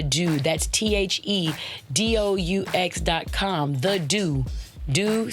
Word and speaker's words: Doux: Doux sounds French because there's some extra lettering at the end of it, all right?